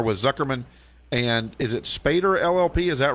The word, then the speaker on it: Spaeder: Okay, he's an attorney and a partner with Zuckerman, and is it Spaeder LLP? Is that right? Yes, it is. Good pronunciation.